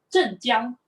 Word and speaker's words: 镇江: In the Chinese pronunciation of the Chinese characters is actually 镇江.